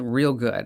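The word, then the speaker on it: Reelgood: One is called Real Good. It's REEL, spelled like the film reel.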